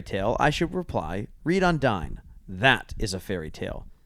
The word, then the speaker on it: Undine: Well, are you familiar with this fairy tale, Undine, as we kind of pronounce it in English and here in America? Whereas I heard some places Undine, and I also heard Undini.